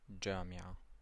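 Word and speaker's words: جامعة: You have jim, and it's pronounced j, as in jamia, university. So it's pronounced j, jamia, jamia.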